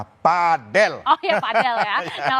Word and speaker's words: padel: Olahraga pedel ini tengah digandrungi oleh banyak kalangan padel atau pedel ya bacanya. Dan saya mendapat informasi terbaru yang benar adalah padel.